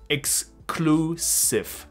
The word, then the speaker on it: exclusive: 所以 exclusive 这个字，今天讲了好几次，它不是个好发音的字，希望你可以跟我一起把它念清楚。先把 x 讲出来，然后这个 clue 讲出来，再把 sieve 讲出来，exclusive 将会好发一点。三个合在一起，exclusive，exclusive，我还没把它讲成名词呢，更鸡巴，因为 sieve 要变成 cvt。Exclusivity，好啰嗦哦。好，Anyway，